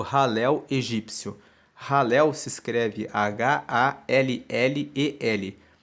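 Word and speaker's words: Hallel: No livro 5, que vai do 107 ao 150, você encontra o conjunto dos salmos que formam o Halel egípcio. Halel se escreve H-A-L-L-E-L.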